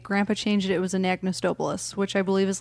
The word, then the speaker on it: Anagnos: And joining us is Anagnos.